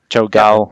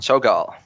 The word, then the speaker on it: Cho'gall: How do you pronounce it? Cho'gall. Cho'gall. Yeah. Like oh my seagull.